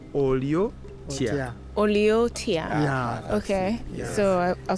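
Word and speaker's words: Oli otya: Oliotia. Oliotia.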